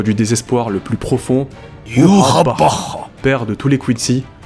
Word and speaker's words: Yhwach: désespoir le plus profond, Yorappa, père de tous les Quincy, fils du roi des esprits. Oui, j'ai décidé de le prononcer à la japonaise pour une fois, c'est encore plus stylé.